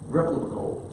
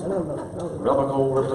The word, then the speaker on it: replicable: Replicable. Tough word. Yeah. Get three syllables. Replicable.